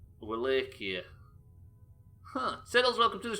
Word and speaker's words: Wallachia: That's not how you pronounce it. Wallachia. That's different to everything I've ever said. Wallachia.